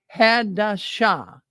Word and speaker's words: Hadashah: Hadajah, if you're on there with us. Yeah, I know. Okay. I'm saying Hadajah, but I'm just cutting it short. But the correct pronunciation here is Hadashah.